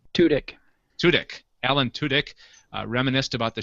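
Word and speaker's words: Tudyk: Torres juel State and alen how do you pronounce his last name tudk tudk Alan tudk reminisced about the show and as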